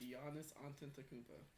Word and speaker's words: Giannis Antetokounmpo: It's Giannis Antetokounmpo.